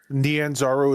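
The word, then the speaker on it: Nyanzaru: Naranzo Nanzaro.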